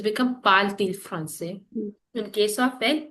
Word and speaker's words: parle-t-il: But pronunciation T और I को एक साथ पढ़ेंगे तो ये हो जाएगा parle-t-il français.